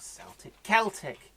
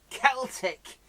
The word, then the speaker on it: Celtic: Not Celtic. Celtic. It's only those bumming Glaswegians who call it Celtic. Why do they do that? Celtic football club, but it's Celtic everywhere else with a hard C.